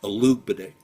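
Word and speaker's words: Olugbode: how he was pronouncing that's how he said he pronounced the name Alo B now who would I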